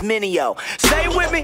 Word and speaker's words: Mineo: mistakes like DJ's must say my name is Minnie Oh Minnie oh okay great except I was basically